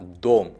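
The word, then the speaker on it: дом: Same like गोद, यहाँ पे भी वही फॉर्मूला अप्लाई होगा, ये होगा दोम, दाम नहीं होगा, क्योंकि ओ वहाँ पे एकमात्र भावल है।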